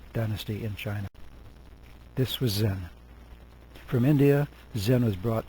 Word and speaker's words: Zen: The Chan sect first spread to Korea, and finally beginning in the 12th century on to Japan, where they pronounced it Zen in Japanese.